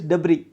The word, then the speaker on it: debris: S is silent, okay, debris.